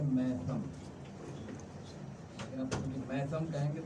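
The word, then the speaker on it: میثم: گا، کہ حضرت میسم، اصل جو تلفظ ہے وہ میسم تو نہیں ہے، ہم لوگ ہندوستانی میسم کہتے ہیں، اصل تلفظ جو ہے وہ ہے میتم، لیکن اب میتم کہیں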